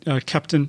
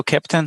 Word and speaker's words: Keptn: And you didn't mention Kepton.